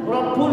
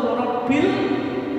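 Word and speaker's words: رَبِّ: Karena saya tahu di Musola dan Masjid Muhammadiyah ada yang baca Rabbul malaikati warum, yang betul Rabbil malaikati warum, karena sebelumnya kasroh. Subhanal malikil kudusi Rabbil malaikati wa ruhi.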